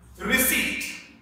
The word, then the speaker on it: receipt: Receipt.